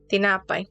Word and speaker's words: tinapay: you're saying it correctly in terms of like the phonetic sounds, but where the accent is, tinapay. The word is correct, but your spirit is wrong.